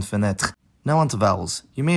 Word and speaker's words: fenêtre: It gets devoiced when following a voiceless plosive or fricative like in frère and fenêtre.